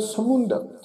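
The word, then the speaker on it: ਸਮੁੰਦ: ये जिहड़ा पाठ आ जी समुंद, मम्मे दे पैर च ओंकड़ उपर टिप्पी लगा के उच्चारण करांगे समुंद।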